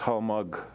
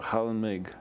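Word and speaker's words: Хальмг: It's actually pronounced Halmag or Halmig, depending how you pronounce it.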